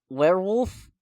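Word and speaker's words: Werwulf: So, we've talked about how fresh off of Noatu, Robert Edgar's plan next movie is Werewolf. Werewolf. Oh, really? It's werewolf, but it's spelled funny.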